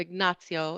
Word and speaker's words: Ignazio: So he and my real uncle Ignatius, or Ignazio in Italian, were the reason I created Uncle Nutsy in the book, which Uncle is one of the Nutsy.